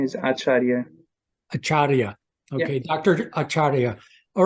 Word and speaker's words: Acharya: first name is bishnu last name is achara acharia okay Dr achara all right so there's my